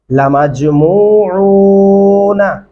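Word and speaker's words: لمجموعون: वल आखिरीन लमजमूऊन, जीम के ऊपर कलकला करेंगे, लमजमूऊन वक़फ़ भी कर सकते हैं, इसको एक साथ भी पढ़ सकते हैं।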